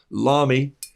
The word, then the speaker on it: Lamy: to listen to him if he says lami l-a-m-y is like mommy he's right it's a